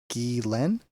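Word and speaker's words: Ghislaine: she's French and it's it looks like it's Gilain. G H L A Y N is the pronunciation. So that's like Gillen.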